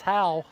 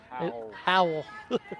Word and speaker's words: Howe: you're from mississippi it turns into howell it's how but if you're from it but if but yeah it's h-o-w-e how how how but if you're from mississippi we turn everything into a couple syllables there howl yeah yeah so uh